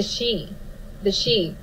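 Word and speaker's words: sidhe: And they talk a lot about the she, pronounced S-H-E-E is how it's pronounced, but it is spelled S-I-D-H-E.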